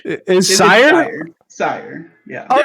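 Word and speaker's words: Syhr: Sire. Yeah. Oh. Yeah, like Okay. it's spelled sire.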